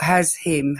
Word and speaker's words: Hashim: You see it's spelled has him. H A S H I M. It's Hashim.